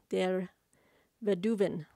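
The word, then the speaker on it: der Weduwen: by andrew pedigree and arthur der vediven der veduven i'm doing the german pronunciation of w right with the v sound that you've been i hope that's right this is put out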